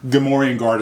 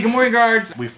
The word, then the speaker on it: Gamorrean: But I think it's Gamorrean guard is probably correct because he actually comes from the planet Gamorre.